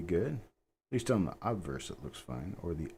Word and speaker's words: obverse: it doesn't make sense but the word is pronounced obverse why would you change the pronunciation of a